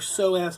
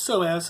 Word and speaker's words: psoas: in that is your so ass muscle it's actually spelled ps0 AS so it's pronounced so as to the P doesn't have any sound to it but that's what you'd